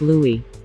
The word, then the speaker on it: Louis: his name is pronounced Louis just like The Little Prince of Cambridge or perhaps she's a